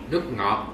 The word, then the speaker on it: nước ngọt: Nước ngọt. Nước ngọt. So when you pronounce OT, you don't close mouth, okay? Not nước ngọt. Mm-mm. That is wrong. You have to say nước ngọt.